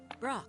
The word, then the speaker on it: Brok: ahead say my name it's pork of course no it isn't Brock Chief I thought you